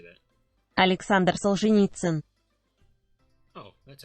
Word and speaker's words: Solzhenitsyn: So, the great Russian novelist and polemicist Alexander Solzhenitsyn? How do you say that? Alexander Solzhenitsyn.